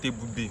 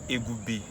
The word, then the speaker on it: Ebube: Like, the funniest, someone called me Egube, like Egube, like literally. How did you miss the B?